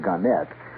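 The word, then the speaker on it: Gannett: Ganet or Garnet. They prefer to pronounce it Ganette.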